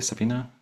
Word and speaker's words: Sabina: I pronounce it correctly Sabina or yeah it's perfect yeah no it's it's Romanian pronunciation yet okay so Sabina